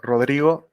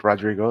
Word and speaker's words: Rodrigo: I'm Rodrigo. That's how you say it properly in Spanish. People in English, you can say Rodrigo. That's okay as well.